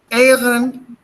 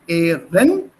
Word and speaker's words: Ehrenamt: It's not Ehrenamt, it's not Namt, Ehrenamt, sondern Ehrenamt. So you give a small gap, and this gap is called in phonetics, das heißt dann Glottesschlag, a small break between the vowels.